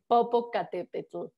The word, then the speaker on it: Popocatépetl: It's called the Popocatépetl. I know it's hard to pronounce. Basically, the name is not Spanish. The name is in the native language.